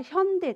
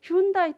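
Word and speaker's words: Hyundai: 現代じゃなくて韓国ではヒョンデですけど日本の発音では春大ですねヒュンダイという大手企業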